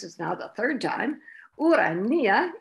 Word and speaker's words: Urania: now the third time urania is the classical greek pronunciation pronunciation the the greek